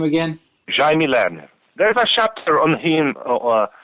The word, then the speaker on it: Jaime Lerner: Jaime Lerner.